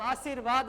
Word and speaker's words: आशीर्वाद: ठीक है बोले उल्टा ध्यान रखना कि रा का उच्चारण हो कर रहा है, हम आशीर्वाद बोल रहे हैं आशीर, ठीक है तो रा सी के बाद वाले में लगेगा, ये याद रखना।